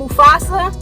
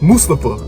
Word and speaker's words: Mustafa: And Mufasa. No, you gotta say it like Tom Phillips. Mustafa.